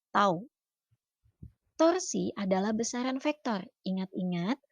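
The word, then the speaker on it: τ: benda berotasi atau berputar simbolnya seperti huruf t dibacanya tahu torsi adalah besaran vektor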